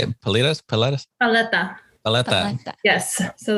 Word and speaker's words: paleta: Paleta.